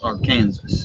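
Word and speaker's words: Arkansas City: kansas city and but our kansas city is actually pronounced our kansas yes the arkansas river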